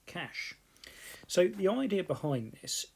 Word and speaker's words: cache: is something called cache memory okay cache memory pronounced cache so the idea behind this is it's much